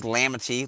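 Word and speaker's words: L'amitié: Uh, it is lamitye, like I said, is in uh French uh French Haitian, which means uh friendship, a which is how you say it in French, uh, which means friendship.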